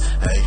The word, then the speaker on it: Aitch: You know, y'all say it's like the letter H, but you just pronounce it H. But I hope I'm finally correct on saying that name, bro. Like, H and not like itch or hatch or hatch.